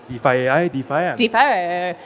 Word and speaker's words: DeFi: kind of asking how do we even pronounce defy defi defa like so we were kind of laughing yeah you got it you defi yeah so I'm I'm really looking forward to